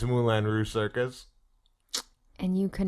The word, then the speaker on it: Moulin Rouge: It's Moulin Rouge. Not Mulan. Is it Moulin Rouge? Is the Disney movie Mulan as well? No. Yes. But spelled differently. I know it's spelled differently, but it's pronounced the same.